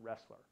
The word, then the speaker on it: Roesler: choose the acronym because my last name is pronounced wrestler that is a fallacy